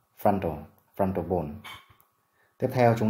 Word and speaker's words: frontal: Từ này có hai âm tiết, trọng âm rơi vào âm tiết thứ nhất, frontal, frontal bone.